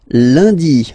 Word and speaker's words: lundi: And in France, the week starts with lundi, Monday, lundi, lundi. Okay, remember, UN is pronounced like un, lundi, lundi, lundi.